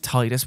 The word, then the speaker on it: Tidus: friend who finds protagonist Tidus, even though it should be pronounced Tidus, wide game directors, it's tide, it's connected to the water, doesn't matter, washed up on the beach at the game's opening.